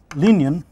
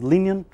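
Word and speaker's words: Liñán: A derivative, smaller book was also written by Emble Linian. So this is it's a Spanish name, so you have to pronounce it, I guess, as Linian, with all this tilde and a and this accent here, and F.A.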